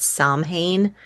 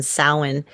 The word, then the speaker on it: Samhain: A lot of people call it Samhain, but that is not how it's pronounced. It's actually a Gaelic pronunciation, Samhain, and and that is the actually the pagan New Year.